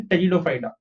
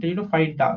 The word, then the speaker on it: Pteridophyta: Okay, the P is silent over here. So you say Pteridophyta. So Pteridophyta, I'm saying Pteridophyta.